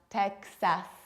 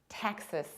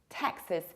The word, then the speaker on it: Texas: And this huge state is not Texas, but Texas. Texas. You have to reduce the ending. You don't pronounce S like ass, but like us.